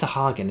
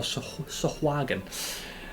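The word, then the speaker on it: sahuagin: Bolstered, the muroke overcame and drove off the vicious uh I guess it's sahagen. Is that how you pronounce it? That's how I know you pronounce it. Or sahagan.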